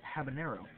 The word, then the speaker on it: habanero: about Peppers here there's a pepper called the habanero and the thing is most of the time it's mispronounced as the habo with a toad over the end not true it is in fact the habanero pepper and that is another useless fact you